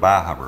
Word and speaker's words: Bar Harbor: Is that how you pronounce Bar Harbor or is it Bar Harbor?